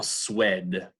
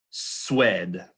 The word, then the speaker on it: Suède: Huit, huile, en Suède. Répétez, huit, huile, Suède. All right, so when the U is followed by any vowel, it becomes that kind of W sound.